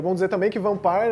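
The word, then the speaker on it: Vampyr: E é bom dizer também que Vampire é a pronúncia correta do nome, e eu digo isso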